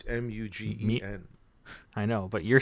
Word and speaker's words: Mugen: guess like I just thought when they said Mugen Train or Mugen Train, however you pronounce it. It's Mutant Train, like X-Men. No, it's Mugen.